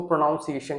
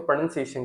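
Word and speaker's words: pronunciation: कई लोग उसको प्रोनाउंसिएशन कहते हैं जो कि सबसे बड़ी गलती है और उनको लगता है मैं सही हूं। जबकि इसको प्रोनंसिएशन कहते हैं।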